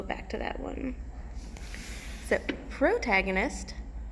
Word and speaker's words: protagonist: to that one so protagonist pro tag onus a little pronunciation underneath is the main character